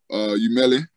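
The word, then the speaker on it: Umile: The brand, I'm getting some new stuff started, but the brand name is called Umele.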